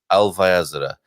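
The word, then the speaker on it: Alvaiázere: I'll pronounce his town correctly. Alvaiazara.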